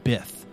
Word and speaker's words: Bith: Just call him the Bith Master. Because it rhymes with Sith.